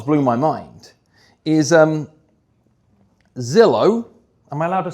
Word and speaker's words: Zillow: Is um Zillow. Am I allowed to say that? Okay. a lead brokerage that rhymes with pillow.